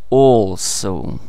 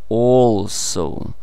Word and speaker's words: also: Also. Also. В конце читается, ну, если грубо, примерно сказать «оу».